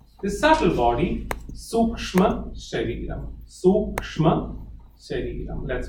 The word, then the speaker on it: sukshma: Sukshma shariram. Let's pronounce that. Sukshma, S, capital U. So it is Su and K, Suk, SH, Suksh.